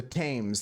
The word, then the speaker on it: Thames: The Thames. There's no H pronunciation, Husker.